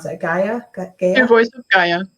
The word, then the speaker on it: Gaia: So that's Pure Voice of, I don't know how you pronounce that, Gaia? Pure Voice of Gaia. Gaia okay.